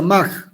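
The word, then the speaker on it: Mach: y algunos años después primero más se escribe much y se pronuncia más del alemán luego poincaré luego minkowski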